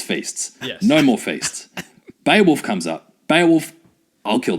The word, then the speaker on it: Beowulf: It's pronounced Beowulf, Dave.